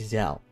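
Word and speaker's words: Ysayle: It's Isal. It's not that hard. Remember that, Tyler. Remember that. It's Isal.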